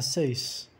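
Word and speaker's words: six: La page 6, a página 6. O X se pronuncia S nesse caso. Tipo la page 6.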